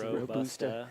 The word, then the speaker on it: Robusta: I've learned today that I've been saying it wrong for years now. Robusta coffees. Robusta. It's a long U.